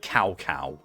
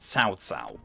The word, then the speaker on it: Cao Cao: You know, it took me years on to learn that the name's actually pronounced Cao Cao, which makes a lot more sense and sounds a lot less silly.